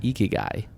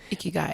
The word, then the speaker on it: ikigai: So this book, I believe you pronounce it Ikigai. Ikigai.